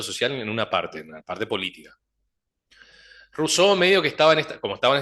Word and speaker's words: Rousseau: Rose, doble S, Seau, E-A-U, se pronuncia como O. Rousseau. La O y la U como U, Rousseau.